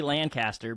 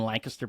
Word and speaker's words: Lancaster: It's like beaten into me to not say Lancaster because they make fun of you out in Lancaster, Pennsylvania.